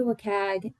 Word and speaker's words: WCAG: Now when we look at the web content accessibility guidelines I say waggs please put it phonetically in the chat.